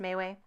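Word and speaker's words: MeWe: But I'm definitely getting a lot of invitations to this Mayway one, M-E-W-E. I assume it's pronounced Mayway.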